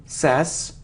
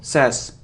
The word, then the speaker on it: says: sweet sweet sweet so it isn't sass now says it's like say but he should eat sass but not says says they says he says it's a very common mistake and it isn't deposit